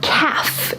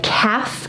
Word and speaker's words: calf: Behind your shin is your calf. Your calf. Now, strangely enough, this is also the word for a baby cow. A baby cow is a calf. Notice the L is silent, but this muscle here, back here, is your calf.